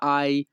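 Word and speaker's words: hai: তুমি কি খেয়েছো এই বাক্যের ইতালিয়ান ভাষা হবে কোজা আই মানজাতো। কোজা আই মানজাতো। এখানে এইচ এ আই এর উচ্চারণ হবে আই।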